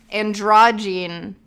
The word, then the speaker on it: androgyne: Androgyne. It's like androgynous, but it's androgyne.